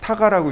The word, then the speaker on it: TGA: 이때 TGA하고 TGA 타가라고 읽어요.